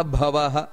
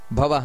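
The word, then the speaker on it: ಭವಃ: ವಿಶ್ವರೇತಾಹ ಆ ರೀತಿ ವಿಶ್ವರೇತಾ ಪ್ರಜಾ ಭವಹ ಅದು ಮಹಾಪ್ರಾಣ ಇದೆ ಭವಹ ಅಂತ ನಂತರ ಅಹಸಂವತ್ಸರೋ ಅಲ್ಲಿ ನೋಡಿ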